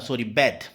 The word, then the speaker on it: bathe: और अगर आपको वर्ब के रूप में यूज़ करना है बात को, तो आप वहाँ पर बोलेंगे बैथ, ठीक है, BATHE, ठीक है।